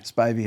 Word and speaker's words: Spivey: Spivy or Spivey. Spivey Hall.